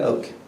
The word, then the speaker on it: Oak: Outside of family and my personal and professional lives, I am now Oak. I'm personally, I'm professionally. My surname is pronounced Oak, like the tree.